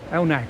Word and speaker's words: Elnagh: not sure how you're going to pronounce this. No. Elnagh. Elnagh, thank you.